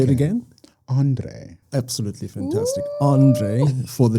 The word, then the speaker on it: Andre: Andre.